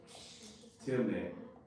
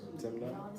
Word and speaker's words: Timnah: And it was told Tamar, saying, Behold, thy father-in-law goeth up to Timnah. I might mess up some word y'all better. Nah, you pronouncing it right, brother. Timnah?